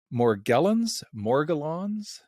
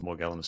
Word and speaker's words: Morgellons: Now, you originally got into debunking conspiracy theories by focusing on, is it Morgellons? How How do you I pronounce pronounce it Morgellons, but it's also pronounced Morgellons.